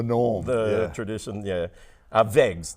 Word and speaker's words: Wegs: Uh, Wegs, w e g s, Wegs, pronounced with a V.